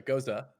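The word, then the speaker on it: gose: it's a goza. I remember the It's first time goes. I tried to pronounce this word to you and you like shit on me for it.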